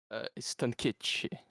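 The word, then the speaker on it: Stankić: Stankic. The last letter. It's like a SH with a CH kind of thing.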